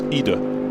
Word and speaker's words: Ide: I said, is it Ide or Ede? He went, neither, it's Ida. Ida.